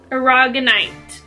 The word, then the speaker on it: aragonite: is for psychic development it is argon knight i got it right i'm probably saying it wrong though art aragonite aragonite i did get this one right yes so this is